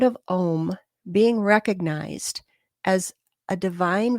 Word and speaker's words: om: manifested as the sound om o m the vibration of the Supreme some people say it's pronounced a-u-m and some say o m but anyway the word